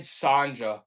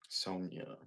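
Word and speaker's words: Sonja: Red Sanja. Look at that one. That's an older one. Red Sanja. Sonia. Yeah, Sonia. You're right. The J is silent. Green Lantern. They actually do pronounce it Sanja in some countries.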